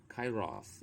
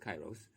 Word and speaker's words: Kairos: so cairo what does it mean actually it's pronounced kairos in the greek or that's a closer pronunciation but we pronounce it kairos the perfect delicate crucial moment the fleeting ripeness